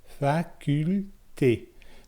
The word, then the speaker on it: faculté: For faculté, it's facule. So you pronounce that L. Facule, faculté.